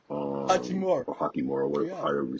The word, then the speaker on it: Hachimura: But what I will say is this: now with this new, I guess, revamped team, with D'Lo, Hachimura, Hachimura. or Hakimura, Yeah.